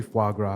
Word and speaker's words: foie gras: I'm having, Rhymes with Viagra.